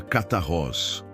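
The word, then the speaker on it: καθαρός: Para entendermos a natureza desta pureza, podemos olhar para a palavra grega que Jesus usa para limpos, que é cataros, se pronuncia catarroz.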